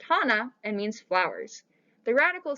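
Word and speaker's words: 花: t and the kanji on the right is pronounced hana and means flowers the radical circled in both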